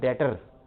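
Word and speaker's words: debtor: ये जो लफ्ज है ऐसे ठीक आ गया ये जो लफ्ज है डेटर, इसमें पहली बात यह कि बी साइलेंट है, इसको हम बी के बगैर बोलते हैं।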